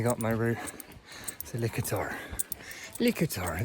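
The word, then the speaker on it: Litochoro: Likator, that's how it's pronounced. There's no ch noise apparently in the Greek language.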